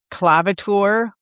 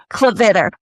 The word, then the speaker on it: Klavitter: Klavitter. No, I didn't say it right. I'm not that French. Say it for us again. Klavitter. It's actually German, and it's okay.